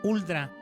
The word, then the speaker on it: huldra: mítica del folklore sueco también es conocida como huldra que está más fácil de pronunciar que es cosgra es ulda en regiones escandinavas este ser